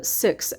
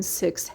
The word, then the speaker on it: Sikhs: fact that sikhs uh six actually uh like the it's pronounced i guess like the number six but it's s i